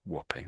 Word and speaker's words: Wapping: But there's a a place in London called Whopping and it's built this way over here.